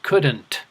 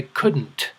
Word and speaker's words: couldn't: couldn't repeat couldn't now some people will pronounce that D a little bit to make sure they were understood by saying couldn't couldn't but others will swallow the D and say couldn't couldn't so the problem occurs